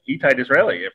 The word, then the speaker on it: Itai Disraeli: Lily's other half and bass player of Opium Moon and very accomplished musician in his own right, Itai Disraeli. I hope I pronounced that right.